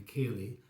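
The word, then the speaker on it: Cèilidh: this one is c1 the kaylee and that's the pronunciation of that rather strange spelling this is the way people spell the gaelic language in scotland and it's four beats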